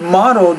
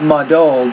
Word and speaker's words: modeled: In the word modeled, you want to put that stress modeled on that first syllable, not muddled, but modeled.